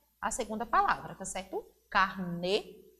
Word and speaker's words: carne: E o acento vai modificar o som, a pronúncia da palavra. E aí temos carnê. Observe que na última sílaba, no nê, tem um acento circunflexo. E na segunda palavra, aparece a palavra carne. A escrita é a mesma.